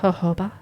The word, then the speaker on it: jojoba: It's like Baja. When people say Yeah. Baja, yeah, Yeah. that makes sense. Well, I noticed like avocado oil you use and the jojoba. Did I say it right now? Yes.